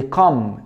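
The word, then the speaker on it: comb: كلاين وخد المعلومه دي كل ما تلاقي حرف الام مع حرف البي حرف البي ها البي مش البي لا البي ام مع البي زي ما مكتوب في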